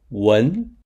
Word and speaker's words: 文: To remember the pronunciation of 文, we use Wendy with red hair and two braids as an intermediary.